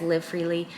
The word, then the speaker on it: LV Freely: brand live freely so it is spelled LV freely we pronounce it as live freely L standing for Laura